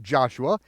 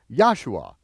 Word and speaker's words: Joshua: So anytime you see the letter J in your King James Version of the Bible, pronounce it as a Y, and you'll be very close.